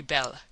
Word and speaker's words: belle: that they are very belle. Now don't mispronounce things and get sore till you know. You pronounce that like bell and push button.